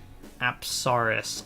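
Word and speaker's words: Apsaras: Apsaris, I believe is the correct way to pronounce it.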